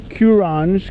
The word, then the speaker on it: Qronge: This video is about the amazing Qronge, Qronge. I heard it pronounced Qronge, so I assume that that's the correct pronunciation.